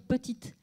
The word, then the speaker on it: petite: À l'oral, je vais dire petite. À l'écrit, on va mettre le E. Et le E, fin de mot, il doit être en noir. Ce n'est pas une lettre muette.